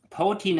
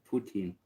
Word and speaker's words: poutine: Potin is a Canadian dish originating from Quebec consisting of French fries.